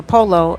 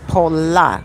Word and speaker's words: Pola: A lot of people call it Super Polo, and it's not polo. It's Pola. Super Pola.